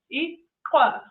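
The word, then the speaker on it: iklwa: So it's it's called aqua. You got it. So, the way it's spelled is I K L W A.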